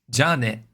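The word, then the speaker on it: じゃあね: Ja ne. With the ja first ja being higher pitch. Ja ne.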